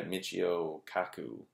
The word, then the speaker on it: Michio Kaku: Okay, so then another example of kind of what happens is this other puppeteer type of guy, Michio Kaku.